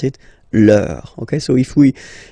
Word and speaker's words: leur: don't pronounce the final S, vos, you don't pronounce it, leur.